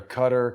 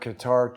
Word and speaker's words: Qatar: stamp on their ass people always seem to pronounce it one way or another cutter qatar charles ortel was involved